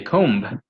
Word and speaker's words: comb: like for example uh they have comb i comb my hair there has a b but you don't say comb so that's why it's